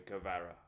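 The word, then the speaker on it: Kvara: Okay, that's how you pronounce the name. Cavara.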